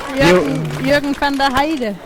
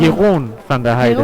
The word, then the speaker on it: Jeroen van der Heide: Jürgen van der Heide. Sorry for saying it wrong. Jeroen van der Heide. Jeroen, sorry.